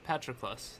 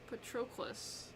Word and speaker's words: Patroclus: Yeah, Patroclus. There you go. Patroclus. That's really how you pronounce it?